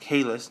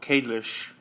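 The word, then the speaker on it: Kahless: Lo and behold, it's not just the birthplace of Kalis, and it's pronounced Kalis, not in the show Kalish, or whatever they say it was.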